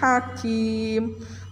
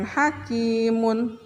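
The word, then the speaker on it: حكيم: atau mu tetapi punya Itu dimatikan diwakafkan jadi Hakim Bukan hakimun tapi Hakim ini namanya Madrid lissukun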